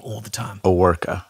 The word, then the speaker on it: Owerka: Aworka. Aworka. And in Russian it's Overko.